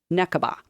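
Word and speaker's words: נקבה: Necaba.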